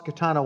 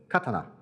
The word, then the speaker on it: Katana: the front and said, Katana. So in Japanese it's pronounced katana, not katana.